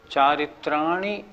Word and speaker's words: चारित्राणि: कुछ लोग कैसे बोलते हैं, सम्यक दर्शन ज्ञान चारित्राणी मोक्ष मार्ग, ये गलत हो गया। चारित्राणी नहीं, चारित्राणी, छोटी की मात्रा को छोटी की मात्रा बोलना है।